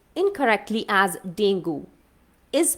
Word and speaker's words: dengue: here okay d-e-n-g-u-e that is pronounced incorrectly as dengue is pronounced correctly as dengue it's dengue another word